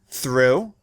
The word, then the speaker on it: through: All these words have the letters OUGH. But those letters represent different sounds in each word. Listen. though through cough rough plough There